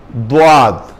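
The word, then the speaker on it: ضاد: যেটা দিয়ে চাপাইয়া খান এই মাড়ির দাঁতের সাথে লাগিয়ে দোয়াদ দোয়া হ্যাঁ দোয়াল মাগদুবি আলাইহিম জীবের পেছনের দিক লাগবে দাঁতের মাড়ির সাথে উচ্চারণ হবে তবে দোয়াদ এই শব্দগুলো যখন উচ্চারণ করবেন মুখটা একটু গোল করে উচ্চারণ করতে হবে মুখটা একটু গোল করতে হবে গোল করে উচ্চারণ করতে হবে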